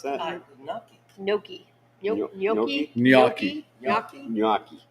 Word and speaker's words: gnocchi: Jimmy, you Wait, ordered what the is gnocchi? that, Jimmy? How do you pronounce that? Gnocchi.